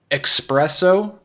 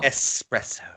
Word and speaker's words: espresso: pronounce similar words wrong another one expresso or there's no x in it there's no x in that word not at all espresso yep how how about